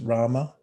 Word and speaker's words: rama: of all complete happiness rama it's two syllables r-a-m-a and in your mind